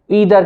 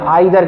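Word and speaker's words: either: फिर आ रहा है ईदर कह लें या आइदर कह लें। एक ब्रिटेन है, एक अमेरिकन एक्सेंट है जो प्रोनाउंसिएशन है, जिसका मतलब बनता है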